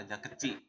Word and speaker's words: Raja Kecik: namanya ee kalau ee orang Batam ee membacanya tu Jembatan Raja kecik ya Raja kecik itu raja kecil jadi jembatan ini panjangnya